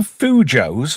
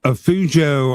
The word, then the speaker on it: fujo: Some of you Fujos, what the fuck is a Fujo? Does anybody know? It rhymes with Cujo, which is a big St.